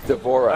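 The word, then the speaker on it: D'Vorah: What does a swarm queen allow Devorah to do? How'd you pronounce her name? Devorah, is that right? Devorah, okay.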